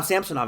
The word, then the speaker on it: Samsonov: get a little bit about Ilya Samsonov, now Samsonov again pronounced, by the way, and the Leafs goaltending situation.